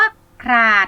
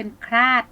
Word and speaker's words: ขลาด: ค่ะ คำ ต่อ ไป คำ ว่า ขลาด โป้ นัก เรียน อ่าน นัก เรียน ร้อง เป็น พลาด นะ คะ อ่า ออก เสียง ตาม คุณ ครู ค่ะ ขลาด มี แต่ ถึง รบ